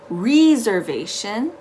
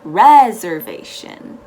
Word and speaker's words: reservation: you have a reservation the important thing to remember in this word is that the first e takes an e sound the e h sound not an i sound so it's not reservation it's reservation okay then you and how